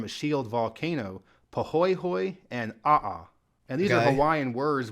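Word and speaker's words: aʻa: And of the two types of lava, A'a, which is spelled A''A, is the rougher, more sharp-like lava.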